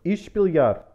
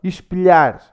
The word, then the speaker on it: Espelhar: Espelhar. Espelhar. When you have an L and an H. It's a lhe.